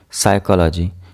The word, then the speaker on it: psychology: P will be silent psychology psychology here p is silent similarly pneumonia psychiatrist receipt